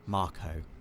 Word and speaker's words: Mako: down the ladder now this is a Mako reactor Dave officially pronounced Marco right but I've always I've would pronounced it maker officially it is Marco though and you can see